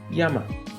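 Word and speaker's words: 山: reading or only but in Japanese mountain is pronounced as Yama in man yogana this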